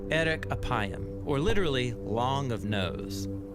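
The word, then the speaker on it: אֶרֶךְ אַפַּיִם: in Hebrew the phrase slow to anger is pronounced Eric aayam or literally long of nose but what does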